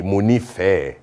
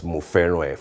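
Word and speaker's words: Mo nifẹ rẹ: And I'm like, no, Folake, that's not quite correct. I love you will be Munife, not Muferoe.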